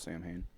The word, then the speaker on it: Samhain: Okay, so a lot of people mispronounce it. They call it Sam Hain, but it's Samhain. Basically, I thought it was Sam Hain. well, you're fucking wrong. Well, Is it spelled like SAM? It's spelled H-E-I-N? Samhain, but Yeah. in the Gaelic pronunciation, it's Samhain. Okay. Because MH is in that So context.